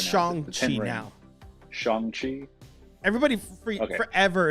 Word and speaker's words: Shang-Chi: I can't pronounce Shang-Chi it. It's Shang-Chi now.